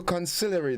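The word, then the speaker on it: consigliere: now sometimes called conciliaries also all right so conciliary that's the word for the day c-o-n-s-i-g-l-i-e-r-e it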